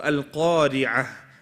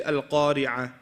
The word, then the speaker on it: القارعة: Make sure you pronounce this letter. Don't just say Al-Qari'ah. No. Al-Qari'ah.